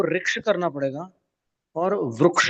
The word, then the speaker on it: वृक्ष: हां हां रुक्ष तो इसका उच्चारण संस्कृत में रिक का उच्चारण अपने को रिक करना पड़ेगा और वृक्ष का उच्चारण उ जैसा करना पड़ेगा।